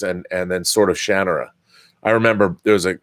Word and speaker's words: Shannara: his house in Seattle and he said it's pronounced Shannara I called it the Sword of Shannara I was always saying Shannara its Shannara that's from Terry Brooks himself just to be